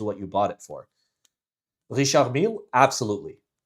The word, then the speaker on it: Richard Mille: Richard Mille, absolutely. Richard, I pronounce it the French way.